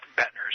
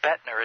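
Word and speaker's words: Boettner: They can, other than I want to give them Bettner's before we close up.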